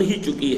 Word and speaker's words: ہیچ: کوئی بھی شے، ہیچ، اور اصل میں ان کا تلفظ ہیچ ہے۔ ہیچ خیر از بردک، بردک کس بلا کا نام ہے؟